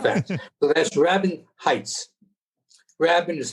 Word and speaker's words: Rabin: Rabin is how they pronounce the name here, as opposed to Rabin.